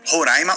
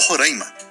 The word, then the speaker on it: Roraima: Tem uma briga de como se pronuncia o nome, Roraima ou Roraima, e muitos especialistas dizem que os dois estão certos, na verdade.